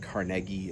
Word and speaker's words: Carnegie: And um, Andrew Carnegie is I'm just going to Carnegie is how it's often pronounced here, but Carnegie is the proper Scottish I believe.